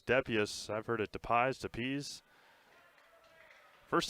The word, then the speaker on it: Depius: Ryder's last name is Depius, as the PA guy has the last word. He gets the correct pronunciations.